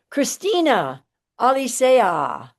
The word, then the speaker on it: Cristina Alicea: of our um I want to thank you Christina Alisa.